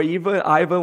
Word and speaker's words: Ivan: the show ivan or eva ivan whatever you want to say dorovik is that correct ivan my name is i'm from serbia but obviously i'm pronouncing my name here as ivan so you are right